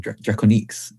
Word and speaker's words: Drakoniques: That's DRAKONIQUES. Really weird spelling because the normal spelling of it was taken. So I had to think of something creative to go with. Which apparently is the French pronunciation, Drakoniques.